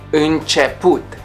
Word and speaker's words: început: The most difficult vowels for foreigners to pronounce are a and ü, ü din i or ü din a. For example, lanternă, lanternă, flashlight. Început, început, beginning. Or mână, mână, hand.